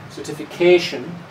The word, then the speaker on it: certification: each word certification and here it's a long word so we also have something what's called a secondary stress so the main stress is certification the first one is